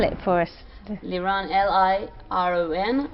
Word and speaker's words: Liron: it again yeah my name is can you spell it for us liran l-i-r-o-n mechras is m-e-h-r-z that's in English yeah